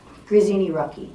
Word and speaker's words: Grazzini-Rucki: Grazzini-Rucki.